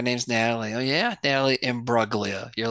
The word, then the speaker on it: Imbruglia: uh torn by Natalie Imbruglia you do not pronounce the G right correct chat or goobywood hello I think it's embroglia that doesn't sound right